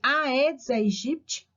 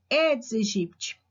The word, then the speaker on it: Aedes aegypti: dengue para esse mosquito tem gente que chama de aedes aegyp mas né segundo alguns autores a pronúncia correta edes egipt ele ele precisa da